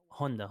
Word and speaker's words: Honda: I didn't catch that Honda Honda like the car Honda okay Honda so I'm